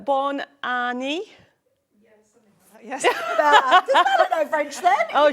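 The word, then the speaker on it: Bonne année: wonder how you say it in French it's Bor Anie yes know French then oh she's she speaks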